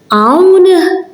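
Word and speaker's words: hawn: So when you see it at the beginning of a word, like here, these two, here it's silent. Aun, that means here. I'm not pronouncing it, as you can hear.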